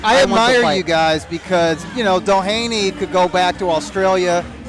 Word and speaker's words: Doheny: He'll be defending his title against TJ Doheny.